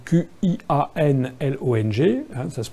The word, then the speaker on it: Qianlong: Ça s'écrit Q-I-A-N-L-O-N-G, hein, ça se prononce Qianlong.